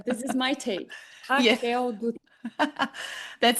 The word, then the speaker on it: Raquel Dutra: I want everyone to know how to correctly pronounce it. Okay, so this is my take. Yeah. Raquel Dutra.